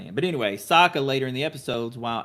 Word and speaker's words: Sokka: Sokka, yes, that is correct. I Y'all literally got me second-guessing everything I'm saying. But anyway, Sokka later in the episode, while Aang is in